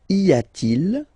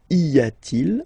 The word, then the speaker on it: y a-t-il: And the way you will pronounce it is y a-t-il, y a-t-il.